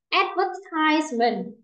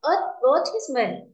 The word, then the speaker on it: advertisement: Từ này cũng vừa bảo rồi, có hai cách đọc, có thể là âm e. Bình thường mình hay đọc âm ơ trước đúng không? Advertise, không, advertisement hoặc là advertisement, hai âm e hoặc ơ.